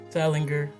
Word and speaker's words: Salinger: Is it Salinger or Salinger? Salinger. Salinger. Okay, hard G.